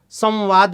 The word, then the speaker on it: संवाद: उदाहरण के तौर पर संरचना में न है, संवाद में म है, मतलब देखिए स के ऊपर अनुस्वार लगा है, दोनों में स के ऊपर है, एक जगह उसका उच्चारण न हो रहा है और एक जगह पर